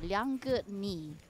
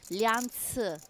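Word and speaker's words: Liang: giocatore al tavolo intanto Lang cinese mi confermi no Eh sì anzi la pronuncia esatta sarebbe Lian ma adesso te lo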